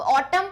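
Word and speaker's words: autumn: बोलो वैसा लगते हैं, लेकिन इंग्लिश में कुछ वर्ड साइलेंट होते हैं। अब ऑटम पढ़ोगे तो सही लग रहा है, लेकिन इसमें एक वर्ड मिसिंग है, आखिरी में एन आएगा।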